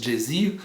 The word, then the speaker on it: geysir: Le geyser, mot que les Islandais prononcent geysir, et qui signifie fureur, s'élève majestueusement à son extrémité.